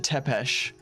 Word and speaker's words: Tepes: in the anime they they pronounce it tepesh even though it looks like TVs I I think that sounds about correct from what I little I know of the language tap is he'd be